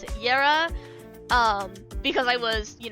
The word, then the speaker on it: Yara: I was using Yara right that's how you pronounce it yera um because I was you know using using